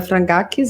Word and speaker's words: Frangakis: Hoje a gente vai conversar com a Lorena Frangakis, é assim que pronuncia?